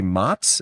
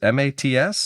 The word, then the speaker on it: Mats: I believe the pronunciation would be Mats, M-A-T-S?